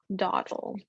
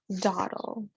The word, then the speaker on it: dawdle: have the word dawdle dawdle dawdle how is that yeah that one we're going to divide the syllable here we have our aw which makes the sound ah thorne hawthorne hawthorne this